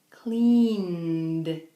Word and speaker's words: cleaned: When do we pronounce ed like a D? Okay? We have this word, for example, clean, and the regular past tense is cleaned. Cleaned. Not cleaned. Cleaned. It's softer.